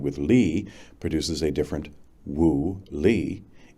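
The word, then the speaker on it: 物理: lee produces a different woolee, each with the same English spelling, and each pronounced in English woo. The first wooie means patterns of organic energy.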